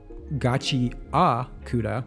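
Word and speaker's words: Gachiakuta: is I don't know much about Gachi Auda, the right way to say it apparently.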